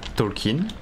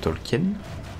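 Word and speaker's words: Tolkien: de problème et bien lui il a il est parti vivre en France du coup France pour ses enfants et tout ils ont préféré la prononciation du coup tolken tolken c'est la femme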